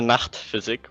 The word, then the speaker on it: Nacht Physik: Okay, so it's pronounced first of all Nacht Physik with Nacht.